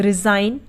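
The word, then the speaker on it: resign: हैं उसी तरीके से रिजाइन अब रिजाइन में भी जी के बाद एन ए रहा है तो यहां पर भी जी क्या है साइलेंट है यानी की वो नहीं बोला जा रहा रिजाइन अब देखते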